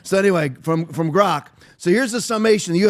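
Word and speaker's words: Grok: Finally saying it right. Aaron, I finally stopped saying like Grank like Gronowski. So, anyway, from from Grock.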